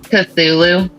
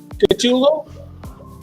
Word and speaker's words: Cthulhu: How do you pronounce that name? Cthulhu. Cthulu. Cthulhu. Cthulhu. Okay.